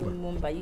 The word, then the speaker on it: Lumumba: Is it Lumumba? Lumumba, yes, you've said it right.